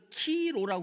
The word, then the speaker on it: 키로: 왜 키로냐? 크리스토스 할 때. 예, 크리스토스의 첫 음절, 두 번째 음절이 예, 키로예요. 키로.